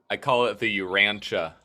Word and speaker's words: Urantia: And if the Urantia book, am I pronouncing it correctly? Is that how you say it? I call it the Urantia? Urantia book.